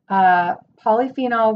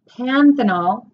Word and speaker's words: panthenol: vitamin C vitamin A polyphenol which is no that's not how you say it panthenol which is a pro